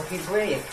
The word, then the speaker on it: Hebraic: Even though they look like the general population, but the customs, some of the customs are very distinct and very Hebrewic or Hebraic. That's the pronunciation.